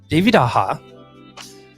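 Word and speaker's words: David Aja: me in the past it is pronounced david aha and he says uh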